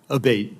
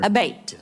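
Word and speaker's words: Abbate: uh Mr Abate and am I saying your name properly we've heard it pronounced three different ways today in the hearing aate Senator aate okay thank you um you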